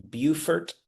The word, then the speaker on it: Beaufort: Beaufort, and you know what?